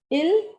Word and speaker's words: il: The pronunciation is il for he and elle for she.